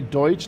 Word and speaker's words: Deutsch: For some reason, they can't say Deutsch. They say Dutch all the time.